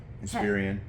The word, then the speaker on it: Inspiron: The last one I had was an Inspiron. I think that's how you say it. Inspiron, yep.